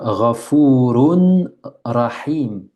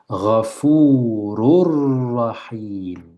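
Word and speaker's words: غَفُورٌ رَّحِيمٌ: On pourrait dire Ghafurun Rahim. Regardez, Ghafurun Rahim. C'est juste, j'ai tout lu bien, mais j'ai pas lu selon le tajwid. Cette, cette façon fluide de lire. Ghafurur Rahim. C'est plus juste.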